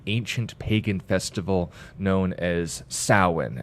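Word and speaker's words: Samhain: taken from the ancient Pagan Festival known as sawen it's spelled Sam Hein yeah but it's pronounced salwan because the Celts don't like to follow rules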